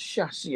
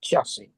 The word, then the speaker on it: chassis: Can we tell them it's pronounced chassis as well? Not chassis.